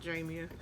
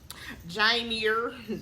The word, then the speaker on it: Jamia: channel I'm official Jamia that's how you say it Jamia jier don't don't call me that please anyway don't forget